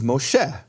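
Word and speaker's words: משה: So the name Moses in Hebrew is Moshe, but that's in Tiberian Hebrew. In Babylonian pointed Hebrew, it's not Moshe, it's Mosha.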